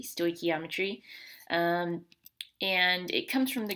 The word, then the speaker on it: stoichiometry: um first of all the way you pronounce that is stoichiometry so make sure you can say it correctly stoichiometry and it comes from